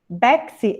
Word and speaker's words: Bexy: Bexy, é assim que pronuncia? Correcto, sí.